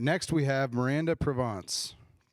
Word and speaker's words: Provance: All right, next we have Maranda Provance. Correct? Mostly? Provance, sorry. I speak a little French. That's how you say it in French.